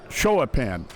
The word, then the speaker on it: Showapan: Showapan. I finally learned the pronunciation of his name when we did the alumni. He said Showapan. That's how he pronounces it.